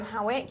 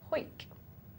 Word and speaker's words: Howick: Oh, apparently it's pronounced Hoik. Hoik Balls. Well, shouldn't spell it with the A then, should he?